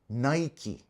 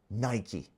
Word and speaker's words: Nike: In North America, it's pronounced Nike. But in other countries outside the US, like the UK, it's pronounced as Nike, as in bike. But apparently the official pronunciation, the proper pronunciation is Nike.